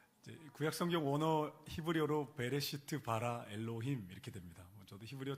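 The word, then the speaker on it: בראשית ברא אלהים: 하나님이 당신을 지으셨습니다 이제 구약 성경 오너 히브리어로 베레시트 바라 엘로힘 이렇게 됩니다 저도 히브리어 잘 못하지만이 문장이 너무 멋있어서 외웠습니다 멋있지 않나요 발음도 베레시트 바라 엘로힘 번 따라 보시겠어요 베레시트 바라 엘로힘 시 바라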